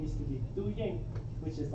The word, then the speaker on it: Yeej: No, Ying.